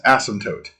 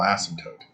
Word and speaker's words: asymptote: Asymptote. It has a silent P in there.